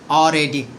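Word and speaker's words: already: এর সঠিক উচ্চারণ হচ্ছে অরেডি। অলরেডি।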